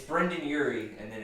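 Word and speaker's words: Brendon: His name is It's pronounced not Panic at Brendan. the Dis- It's Brendan Urie, and then it's me, Brandon.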